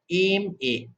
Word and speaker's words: MA: Before pronouncing the word এম এ, an initial A is pronounced before the pronouncing the word aim A, aim A.